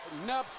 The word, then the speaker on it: Knupp: Knupp's dad came up to me today and said we're saying his name wrong. It's Knupp, not Knupp. Knupp, yes.